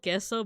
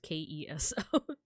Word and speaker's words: queso: It's called queso, but it's not like, you know, like in Spanish you would spell it like Queso. In the Philippines it's just Keso.